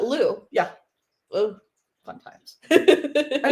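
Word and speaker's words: Lugh: know what I mean yeah l u g h l u g like q but Lou yeah oh fun times I know I was like throw a GH in there so Lou was originally the god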